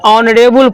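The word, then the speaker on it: honourable: आप देखेंगे कि वैसा वर्ड जो एच से शुरू होंगे लेकिन उसको हम साइलेंट मानेंगे।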